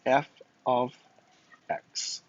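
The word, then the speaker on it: f(x): So this right here, how you say it is f of x. F of x. F of x. I know it's f parentheses x, but function notation, we say f of x, okay?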